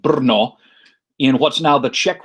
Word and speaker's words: Brno: is spelled correctly um the czech language uh runs a little bit short on vowels uh so the city is actually called brno in what's now the